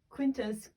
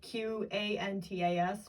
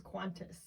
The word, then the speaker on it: Qantas: book a book with quintus i don't know how to pronounce it it's spelt q-a-n-t-a-s but she she pronounces qantas qantas quintus or something she might want to